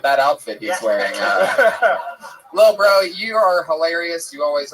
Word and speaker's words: LilBrough: He spells bro with 3 silent letters at the end. Lil Bro.